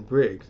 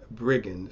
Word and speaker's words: Briggins: I think I said Kevin Briggs, and his name should have been Kevin Briggins.